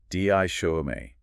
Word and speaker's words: dichotomy: DICHOTOMY. 4 syllables. Stress on the second.